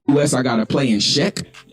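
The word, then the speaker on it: Czech: i gotta play in check c z e c k i think that's how you pronounce it but i appreciate check that's how you say it i appreciate y'all so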